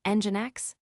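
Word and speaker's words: nginx: Common reverse proxies include engine X, pronounced engine X, and caddy.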